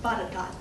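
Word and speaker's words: Botetourt: t-o-u-r-t is not pronounced like it's failed it's pronounced bodak so boundary changes there is a county boundary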